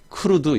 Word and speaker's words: CRUD: 그래서 그냥 부를 때 크루드 이렇게 발음을 하는 거예요.